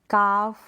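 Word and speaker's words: calf: ये जो स्पेलिंग्स है, ये जो एग्जाम्पल्स है, यहाँ पर एल साइलेंट है, ठीक है, क्योंकि ए ओ यू वोवल्स के बाद में क्या आ रहा है, एल आ रहा है, इसलिए।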